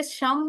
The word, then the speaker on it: शुम: शुम एस एच यू एम शुम उसमें शम बोलेंगे इसमें शुम बोलेंगे उच्चारण से बहुत फर्क